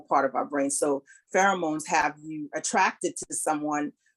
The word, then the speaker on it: pheromones: Sister Cassie said how do you pronounce pheromones?